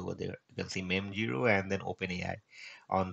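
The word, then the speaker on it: mem0: and you can see it's pronunci pronunciation as me zero so that's what the real pronunciation is now this is how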